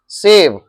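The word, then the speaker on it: save: सेव, इसको pronounce करेंगे सेव और इसको प्रोनाउंस करेंगे शेव, तलाबेश प्रोनाउंस करेंगे इसको,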